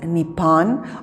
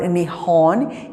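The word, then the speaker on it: 日本: Japan, pronounced in Japanese as Nippon or Nihon, is a Pacific Ocean island nation off the coast of mainland Asia.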